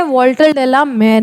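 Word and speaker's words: Walter de la Mare: है वाल्टरडेला मेर ने मार्थ के राइटर कौन है या कंपोजर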